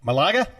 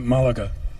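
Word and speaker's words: Málaga: drink we're no Oh Malaga yes we call it malaga malaga where's Malaga near the in Spanish the accent is always on the last syllable yeah Marquez on the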